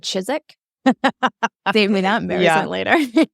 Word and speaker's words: Chiswick: I'm glad you said Chiswick. Save me that embarrassment later. Yeah, it's spelled Chiswick, but we live in England, so we just randomly choose which letters we're going to enunciate.